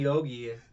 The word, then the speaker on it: Yogi: Yanni and then um Yanni Yugi or Nani Yanni Yogi. I've I've been having trouble. That's why it takes me so long to say his name because I'm like don't say Yugi.